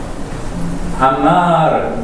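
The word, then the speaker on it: אמר: 이 아마르 이렇게 해가지고 한글처럼 아마르 이렇게 하지 마시고 이렇게 부드럽게 넘어가게 아마 이제 르를 해도 되고 아니면 더 발음이 잘 되시면 아마르를 해가지고 요게 그 떨리는 소리로 이렇게 발음을 해주시면 되겠습니다.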